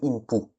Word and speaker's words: Inpou: Donc techniquement on devrait pas dire Anubis mais Inpou.